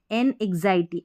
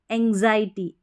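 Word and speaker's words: anxiety: एन एंग्जायटी एन एंग्जायटी यहां पर एन एंग्जायटी ऐसे नहीं पढ़ना है। एंग्जायटी एंग्जायटी इस तरीके से उच्चारण होगा।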